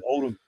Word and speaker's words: Oldham: Oldham.